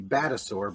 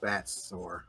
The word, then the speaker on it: Batsaur: Yeah, I think it should be Batasaur, but it's Batsaur.